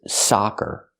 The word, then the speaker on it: soccer: have these two words sucker is the first word closed and relaxed s s sucker and the second word is soccer open ah soccer the name of the sport